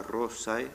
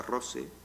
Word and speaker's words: rosae: En la Edad Media no se decía rosa, rosae, sino rosa, rose, no se decía nauta, nautae, nadie hablaba de marineros, nautae, no, naute.